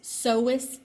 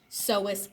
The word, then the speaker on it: psoas: 357, that is psoas major. It starts with a P, but the P is silent. Then we go in one more, and we get to 358, psoas minor.